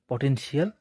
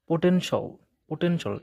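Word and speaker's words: potential: হচ্ছে আমরা যেভাবে উচ্চারণ করি সেটা হচ্ছে এডুকেশন পটেনশিয়াল মালয়েশিয়া উচ্চারণ গুলো আমরা মূলত এভাবে করি কিন্তু ইংলিশ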